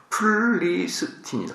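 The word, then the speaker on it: Philistine: 그 다음에 이 이제 블레셋이라는 단어는 필리스틴, 블레셋의 영어 발음이 플리스틴이다. 플리스틴.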